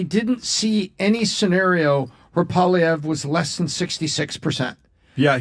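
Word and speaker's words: Poilievre: Polyev, and that's how I'll teach you how to pronounce it. Polyev, say apple. Say Polyev.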